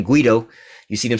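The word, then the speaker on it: Guaidó: Juan Guaido, one of they damn puppets that one of my other subscribers, put me up on how to correctly pronounce his name, Guido.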